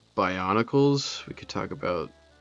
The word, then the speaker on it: Bionicles: Bionicles.